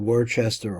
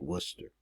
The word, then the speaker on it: Worcester: here so pointing at this place called Worchester or warer Worcester here we pronounce it Worcester so Jews forbidden to